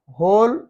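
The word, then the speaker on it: who: हु, हुएवर, होल, हुज, इन सारे words में W silent है। एच से पहले डब्ल्यू साइलेंट है, डब्ल्यू के बाद जो एच फॉलो होती है। हु कौन, डब्ल्यू साइलेंट है।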